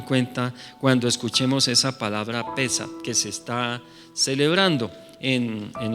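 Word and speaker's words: Pesaj: cuando oigan la palabra Pesach, no sé si sí se puede poner en la pantalla de pronto para que la veamos. Bueno, es con P-E-S-A-J, Pesach, ahí está, Pesach con acento en la E, quiere decir Pascua, y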